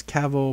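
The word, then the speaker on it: Cavill: His last name is Cavil, pronounced like travel.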